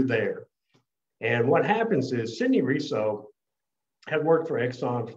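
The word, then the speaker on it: Sidney Reso: But today we're going to talk about Sidney Riso. Is that how you say his name? Yes, Sidney Riso.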